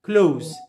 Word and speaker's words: clothes: clothes clothes we say club clothes clothes like like close the door it's okay so here